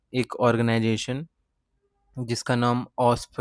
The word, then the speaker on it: OWASP: इसे तुम ऑस्प प्रोनाउंस कर सकते हो लाइक ऑस्प।